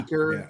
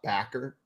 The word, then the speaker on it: Baker: I know he's new to your team, but it's I'm tweeting pronounced that right now. Baker, not Backer.